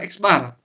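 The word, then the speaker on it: x̄: Jadi, Milan sampel itu dilambangkan sebagai X di mana X itu adalah dibacanya adalah X bar.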